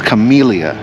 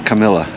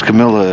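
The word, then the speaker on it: camellia: It's Chamilia, not Camila. It's Camila if you're really southern.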